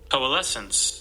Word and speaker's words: Coalescence: It is the Coallesence. Is that how you pronounce it? Let's see. Coalescence. Coalescence. Coalescence palette. Thank you, Google.